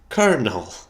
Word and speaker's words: colonel: that's how it makes sense but no it's pronounced Colonel I'm sure they were drunk when they decided